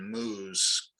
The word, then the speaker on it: Moo: In terms of theology, I'd also recommend Douglas and Jonathan Moo's Creation Care, published by Zondervan. And Moo is spelled just like you think, M-O-O. Douglas and Jonathan Moo.